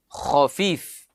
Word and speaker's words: khafif: Berasal dari kata khafif. Iya, kha, fa, ya, fa. Khafif bacanya.